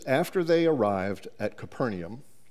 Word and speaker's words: Capernaum: Mark chapter 9 says, after they arrived at Capernaum, and Dot tells me that's how it's pronounced, even though there's not an I in the word.